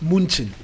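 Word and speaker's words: München: PSG, Bayern Munich, or for the persons who love to pronounce it, Munchen. Bayern Munchen.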